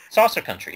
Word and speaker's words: Saucer Country: He's still working on that Saucer Country book, but or County. Yeah. I keep forgetting how to pronounce it. Saucer Country, yeah. It's Country? Okay.